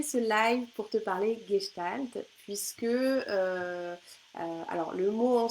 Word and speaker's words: Gestalt: live pour te parler gestalt puisque alors le mot en soi fois manqué pas toujours évident à prononcer parce que ça s'écrit ge mais ça se prononce bien gestalt est en fait je